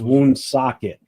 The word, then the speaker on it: Woonsocket: It's Woonsocket.